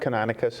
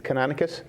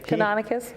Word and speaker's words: Canonicus: know I pronounced his name wrong, it's not Canonicus, how do you pronounce the Sachems name? It's Canonicus? Yeah. Canonicus, and he has a sign, and then Manatanani